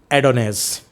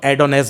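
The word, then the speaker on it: Adonais: John Keats first friend एडोनेस। इसको एडोने भी बोलते हैं और इसको एडोनेस भी बोलते हैं और इसको एडोनिस भी बोलते हैं। 3 प्रोनाउंसिएशन है।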